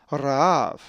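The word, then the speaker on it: Ῥαάβ: The accent is over the second alpha, Ra'av.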